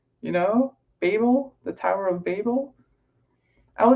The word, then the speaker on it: Babel: So I've been calling it Babel. And apparently there are two pronunciations depending on whether you're US or UK or what. And I actually think that what I'm saying is apparently the UK version, though I feel like it sounds US.